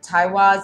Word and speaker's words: Teiwaz: And the name of this rune is, if I'm pronouncing it correctly, Teiwaz, and it's spelled T-E-I-W-A-Z.